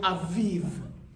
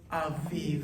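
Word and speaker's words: אביב: know is challenging is the piece that threw people off when we read the word aviv, right? Like it's cool, you got it, ah, and then you got the V, but now you're adding another consonant at the end of that, right? So that's just the piece where you have to remind yourself it's the consonantal sound, right?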